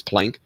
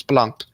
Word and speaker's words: Planck: right way is important we shouldn't be saying Max Planck we should be saying Max Planck we shouldn't be saying